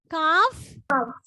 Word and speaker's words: calf: Calf. Calves. No, the way you pronounce is not no. The way you pronounce is wrong. Please do listen while you're pronouncing the word. It is calf.